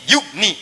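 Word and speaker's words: يغني: Jadi yugni, cepat. Ada ya, bacanya panjang. Yugni. Tidak ada ya, baca cepat.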